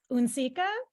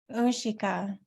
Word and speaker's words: unsika: pronounce it wrong, but this concept of unsika, is that right? Ushika. There we go.